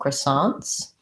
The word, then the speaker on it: croissants: kind of a schwa they say that as i guess an ah vowel croissants um and they say the ts unlike the french who may not say that plural sound croissants second syllable stress so we bring over some of the elements of the french pronunciation and then we americanize